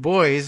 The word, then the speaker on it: Boies: Epstein and his co-conspirators said lawyer David Boies I were pronounced his name correctly that's the famous one